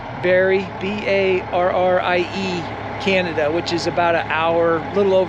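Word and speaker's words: Barrie: I don't know if I'm saying it correctly Barry b-a-r-r-i-e Canada which is about an hour a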